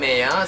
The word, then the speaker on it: Qmia: And I'm Qmia, spelled with a silent Q.